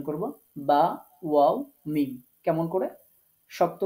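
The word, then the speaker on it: ب: বিশেষ করে বা, এখানে ওয়াও এবং মিম এই দুইটা আমরা নরম করে উচ্চারণ করব, আর যখন বাটা উচ্চারণ করব, বাটা শক্ত করে উচ্চারণ করতে হবে। তো এই জন্য আমি বা শক্ত সংক্ষেপে এখানে লিখে দিয়েছি, মানে এই বা হরফটা শক্ত করতে হবে।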